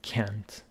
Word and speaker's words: can't: So, an important topic here is the pronunciation of can and can't. The first one, can, doesn't carry any stress, but the second one does.